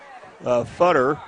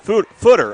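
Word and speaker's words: Foter: as that was uh Futter. Footer. I keep saying I want to say Futter every time I say his name. It's footer. I should spell it f O T E R.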